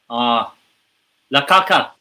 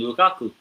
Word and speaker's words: Lukaku: Belgium, Belgique, or whatever they pronounce it in French. La Caca. La Caca. I mean, Lukaku.